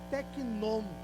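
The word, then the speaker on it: τέκνον: feitos filhos de Deus essa palavra filho é uma palavra grega e pronuncia-se tecnom é filho gerado a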